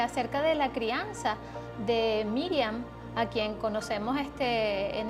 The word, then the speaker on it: Miriam: decía el pastor s su nombre original en el hebreo si por supuesto es la pronunciación lo que ustedes están viendo escrito allí en vista de que en hebreo pues se utilizan una serie de siglas que son este unos símbolos y los símbolos hebreos pero en su pronunciación es miriam en arameo se le dice marian baby y por